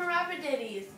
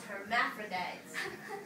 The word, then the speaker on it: hermaphrodites: And rabbitities. I said it wrong again tonight. Yep, you did, Flo. It's hermaphrodites.